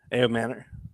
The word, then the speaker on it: Ayomanor: And Ayomanor, I always say his name wrong. Help me out here. Ayomanor.